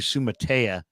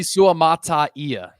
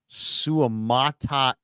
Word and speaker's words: Suamataia: bushing it butchering it I've been calling him Kingsley sua Kingsley suamataia suamataia okay there you go I'm